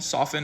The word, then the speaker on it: soften: Between Middle English and early modern English, there was a sound change in which most people stopped pronouncing the T in often, soften, and listen.